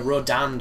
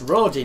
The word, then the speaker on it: Rodin: just recorded a a Rodan fight which I hate that word it's Rodin for sake learn to spell Japan yeah everybody pronounces it Rodan like there's an a when there isn't but that fight is